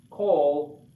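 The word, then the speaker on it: כָּל: called comets katuk and kamaskat is pronounced oh just like just like the column so this is pronounced cold whatever whatever it's in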